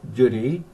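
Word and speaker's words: Dùn Ì: And I walked to the back of the hotel, about a mile, and climbed up Mount Dunee, pronounced Dunee, D-U-N-I.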